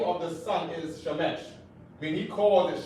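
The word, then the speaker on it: שמש: Of course, the Jewish man, he calls his son Shemesh with an E. He calls God Shemesh. And he pronounced it just like that. He pronounced it like Shemesh.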